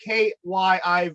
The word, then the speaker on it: Kyiv: How do you pronounce it, Mike? Kyiv.